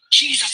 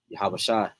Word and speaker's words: Yahawashi: is coming back soon Jesus is coming back soon you know I'm saying sh like he said man yahawashi not Jesus not sweet baby Jesus yahawashi is the proper way you say his name now like he said